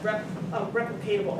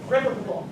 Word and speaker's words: replicable: the project was that it is replicatable, or how do you say that? Replicable.